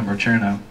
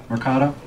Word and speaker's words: Mercado: Mercano, how do you say your last name, sir? Mercado.